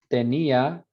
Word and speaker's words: tenía: matter, the difference between tenía where there's no diphthong, because that's accented, so it's a full vowel, so it's te, ni, a, 3 syllables.